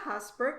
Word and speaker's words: Haasbroek: and i want to introduce you to husbark am i pronouncing your last name correctly i think that's